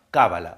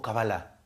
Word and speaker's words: cábala: Otra más, cábala o cabalá. Cambia la pronunciación.